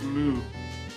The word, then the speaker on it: mu: Project Mu. I think that is the Greek, that U kind of symbol. I think is Greek for, the Greek character for, that is pronounced mu.